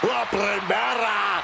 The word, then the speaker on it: La Primera: La Primera, Stephanie Vaquer. You need to roll your R's a little bit on that, man. La Primera.